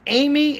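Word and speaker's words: Aime: Her name is Amy. It's spelled A-I-M-E.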